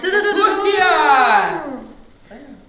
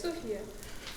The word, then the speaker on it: Софья: Почему я неправильно ударение все время ставлю? Прости, пожалуйста. Не самое привычное имя, наверное, для меня. Не, потому что иногда ставят на другое место ударения просто. И все, поэтому ты привыкла другое слышать.